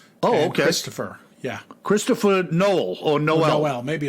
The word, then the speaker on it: Noel: his books yeah so it's like Noel like uh Christmas n-o-e-l oh Christopher yeah Christopher Noel oh no oh well